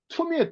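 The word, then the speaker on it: tummim: 그다음에 둠은 원래는 툼이에요. 툼.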